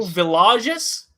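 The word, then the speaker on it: Villegas: it uh camilio milo villages he's uh south american so you pronounce the elves differently yes he's from colombia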